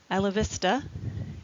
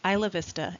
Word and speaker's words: Isla Vista: Isla Vista is Spanish, and so it's pronounced Isla Vista instead of being Isla Vista.